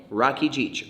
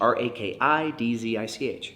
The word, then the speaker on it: Rakidzich: And that's my name, Rakidzich, R-A-K-I-D-Z-I-C-H. It's my last name, hard to spell, harder to pronounce when you're reading it, Rakidzich.